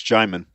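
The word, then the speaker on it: Djimon: best way you can apparently I'm pronouncing his name wrong is it Jim Jim hansu yeah it's Jim okay I just I just Googled I just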